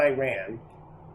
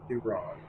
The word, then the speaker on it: Iran: Uh, starting with how you how you um pronounce Iran, not Iran, Iran, and what's going on